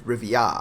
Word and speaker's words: Rivia: When you tell the young'uns, don't get my name wrong. It's Rivia.